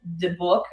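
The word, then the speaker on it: דיבוק: It's debuk, I think is how it's pronounced.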